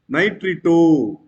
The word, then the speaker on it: nitrito: When a negative ligand is there, we have to pronounce as O sound. We have to pronounce with O sound.